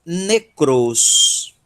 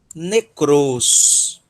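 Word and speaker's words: νεκρός: Sílaba tônica, cross. Necros. Necros.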